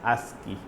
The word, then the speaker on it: ASCII: So first one is ASI American standard code for information interchange it is called pronounced as ASI.